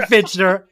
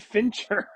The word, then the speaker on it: Fincher: the entire I got fitner I got fitner I got it's fin David Fincher oh okay well insert Fincher for fitner every time I say